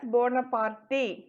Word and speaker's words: Bonaparte: napoleon bonaparte so b-y-n-a-p-r-e-t don't read it as bonaparte okay the how to pronounce it is napoleon bonaparte so napoleon bonaparte who